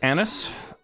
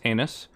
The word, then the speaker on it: anise: i've never had it um it tastes like anise um which no i did not print mispronounced anus uh does not taste like butthole it tastes